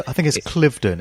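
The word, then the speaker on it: Cliveden: within the grounds of Clevedon house I think I pronounced that right I think is it Clifton it's their maiden heard isn't it Clifton okay so it's Clifton how C L IV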